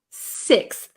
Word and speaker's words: sixth: six uh so no I wouldn't use an F sound here this should be a th sound so um fourth fifth sixth sixth right six okay